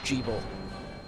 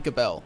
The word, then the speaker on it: Gebel: I refuse to believe that his name is pronounced Jeeble. I swear to God, it's supposed to be Gabel, and it's supposed to be because like Bell is a demonic. Bell is like the root of most demonic names, and so I